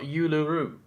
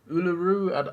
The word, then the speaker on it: Uluru: Apparently, it's not Uluru. How is it actually pronounced? Uluru.